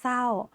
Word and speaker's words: เศร้า: คำ ว่า เศร้า ค่ะ เรา ก็ จะ อ่าน ว่า สร เอา เสา ไม โท เศร้า ไม่ อ่าน ออก เสียง ร เรือ นะ คะ แต่ คำ